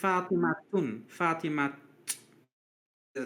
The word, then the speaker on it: Fatima: it's a common name Fatima is actually f fatim a t sound at the end oh huh but they